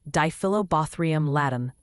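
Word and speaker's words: Diphyllobothrium latum: Dilobaum latt pronounced dyobrium latt the giant fish tapeworm of humans is acquired by eating raw or insufficiently cooked freshwater fish.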